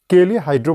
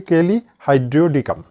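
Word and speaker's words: Kali hydriodicum: কেলিহাইড্রো বলা হয় সংক্ষেপে, এটা পুরো উচ্চারণ হচ্ছে কেলিহাইড্রিওডিকাম। কেলিহাইড্রো।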